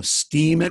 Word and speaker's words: Steemit: it's ste e MIT knows it's spelled a little differently than steam so steam it with two e's IT dot-com you apply